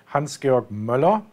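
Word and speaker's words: Hans-Georg Müller: at the start first my name is correctly pronounced hansgeorg muller and then secondly about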